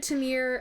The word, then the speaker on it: Tamir: We decided Tamir and then kept saying it a completely different way every single time. Tamer.